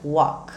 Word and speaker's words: walk: verbo caminhar verbo andar ele se escreve com L mas a pronúncia fica Walk tem gente que ainda